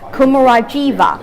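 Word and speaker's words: Kumarajiva: name was actually and i know the english pronunciation is supposed to be kumura jiva kumar jiva was also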